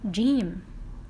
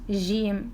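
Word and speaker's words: جيم: other one Hero's Little Gym here is little Jean GM look at it's a sound is yonic gym not like not GM no gym gym say after me Jim okay how do we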